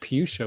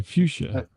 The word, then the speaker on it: fuchsia: fuchia Fu s c I heard I heard puchia with the p oh I'm sorry fuchsia that's me um a